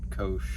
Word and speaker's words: Koch: directly spoke to an employee at Koch, it's pronounced Koch, so I don't know. It's still probably wrong, and I know all of you guys are going to say that it's not right. Koch, whatever.